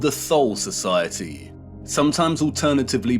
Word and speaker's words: Thule: an occult secret society within germany called the thol society sometimes alternatively pronounced tule that had sub-factions within it one of these